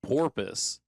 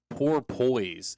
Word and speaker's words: porpoise: it was we did guys versus girls, and so his word that he had to pronounce for us other guys to guess was porpoise, and he kept saying poor poise, and he got I mad.